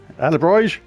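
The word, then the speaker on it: alebrije: be called ala bridge alebrij is a-l-e-b-r-i-j-e this is going to be pronounced in about 40 different ways from different people but anyway we have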